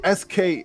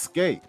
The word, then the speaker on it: SK8: I pronounced it SK8 Infinity. I didn't know it pronounced skate.